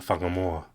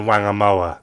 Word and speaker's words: Whangamoa: WH words in are pronounced with a f sound in Maori. So the word he's got there he's got whangakoko, whangamarino, whangamata, and whangamoa. And if you're a white Pākehā, and you're like a lazy racist like this chap, he'll go, that's wangakoko, wangamarino, wangamata, and wangamoa. That's how they'll pronounce it, like they see it in English.